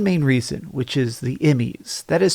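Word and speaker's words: E.M.M.I.: this for one main reason which is the emmys that is spelled e-m-m-i and it's basically this acronym that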